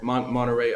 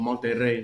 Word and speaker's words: Monterrey: is like born in montreal monterey uh mexico or monterrey you're going to say it right and what that is